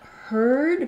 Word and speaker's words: heard: to hear the difference in that herd because it ends with a d my vowel is going to be longer hurt because it ends with the T my vowel is going to be shorter so let me get